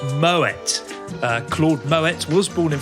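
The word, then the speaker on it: Moët: year number two when talking about champagne it's pronounced moet claude moet was born in france but his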